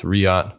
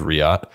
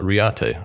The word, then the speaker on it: Riyadh: gonna check in with riyadh by the way i got word from david the owner of riyadh that it is in fact pronounced riyad not riyate i had to know